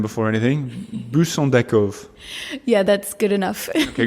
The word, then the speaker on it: Buis: pronouncing your first your last name before anything busov yeah that's good enough okay go on you do it one more time bov buis yes okay where's that name from um bris